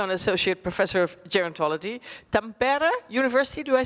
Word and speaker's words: Tampere: Tampere University, do I say that correct? University of Tampere, yes.